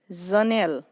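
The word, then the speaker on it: जनेल: Zanel. This means window in English. Zanel. So the pronunciation here is Z, Z.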